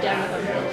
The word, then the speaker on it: Dereham: Is it pronounced Dereham or Dereham?